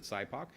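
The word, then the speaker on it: SIPOC: start with the customer side even though we pronounce it Sybok so it's who is our customer what's the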